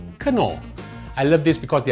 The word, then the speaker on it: Knorr: or if you want to say it right, Knorr.